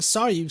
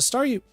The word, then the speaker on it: Staryu: Starmie was just a Staryu. I could never pronounce its name right. It always ended up sounded like saw you, guess I kind of reverted or something.